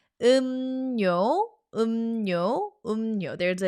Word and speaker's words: 음료: So the chapter is called drinks and we say 음료, 음료, 음료. There is an assimilation happening. 음료, 음료, 음료.